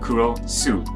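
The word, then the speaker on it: クロス: why is he called kurosu X in Japanese well that's because cross in Japanese is pronounced kuros Su well that's it so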